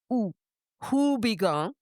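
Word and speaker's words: Houbigant: But I'm going to say it the way an American would say it, which is who because it starts with an H. like Higong.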